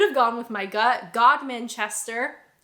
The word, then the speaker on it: Godmanchester: Godmanchester, actually pronounced the way that it looks.